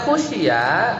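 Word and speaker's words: خُشِيَ: Tapi kalau dibacanya khusyya bidammil kha'i, ya kalau kita bacanya dhamma khusyya berarti fiilnya fiil apa? Majhul, ya.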